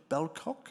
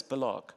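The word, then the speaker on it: Bellocq: Is it H.J. Belcock? Yes, Bullock. Bullock, thank you for the pronunciation, Tim.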